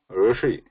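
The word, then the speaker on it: ऋषि: So if you know here Rishi, this Rishi is the how we have to pronounce this R here.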